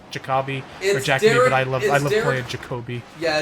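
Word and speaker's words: Jacobi: brought in famous actor his name is pronounced Jacoby I love playing Jacoby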